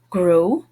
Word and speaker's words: gros: Gros. Don't hear the final consonant.